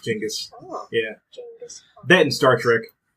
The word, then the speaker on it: Genghis: It's pronounced Genghis.